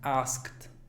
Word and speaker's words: asked: El estudiante un poquito más avanzado diría asked, asked. Algunas personas la pronuncian como asked, asked, así como ct. Pero el común de la población diría asked, sin la K. Completamente la eliminan.